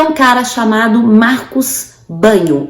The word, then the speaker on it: Bagno: um cara chamado Marcos Banho a pronúncia desse jeito mesmo tá gente escreve bagno mas a pronúncia banho Marcos Banho em que ele